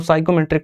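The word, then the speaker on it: psychometric: Railway में साइकोमेट्रिक test और skill test ये पी साइलेंट रहता है पढ़ते वक्त में। तो इसको साइकोमेट्रिक टेस्ट कहते हैं।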